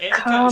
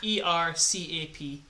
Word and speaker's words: Ettercap: ETTERCAP. ETTERCAP. E.T. Okay, thank you. I thought you said era, not etter.